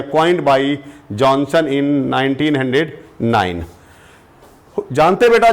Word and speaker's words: Johannsen: देखिए, the term gene coined by, हम पढ़ते हैं इनको बेटा जॉनसन, लेकिन लिखते हैं जोहेंसन।